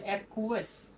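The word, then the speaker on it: acquiesce: এই ওয়ার্ডের উচ্চারণটা হবে এরকম ভাবে, অ্যাকুয়াস।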